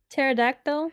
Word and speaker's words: pterodactyl: can't even pronounce that pterodactyl pterodactyl the p is silent that's funny is it